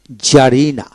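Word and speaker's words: czarina: আর আই এন এ জারিনা জারিনা সির উচ্চারণ হবে না তারপরে শব্দের মধ্যে কিউ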